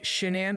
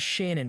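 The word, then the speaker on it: Shanann: Frank and Sandra rusek pronounced shenan by friends and Shannon by her family she grew up with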